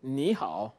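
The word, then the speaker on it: 你: we will see that this tone actually is the third tone So when you say you should pronounce it ni let's consider that for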